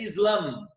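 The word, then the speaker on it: إسلام: Na pronúncia árabe termina com M, né? Seria Islam, tá?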